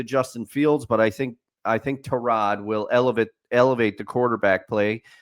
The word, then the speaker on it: Tyrod: No, I was told we had to pronounce it correctly. We have to say. Yes, We have to call him Tyrod.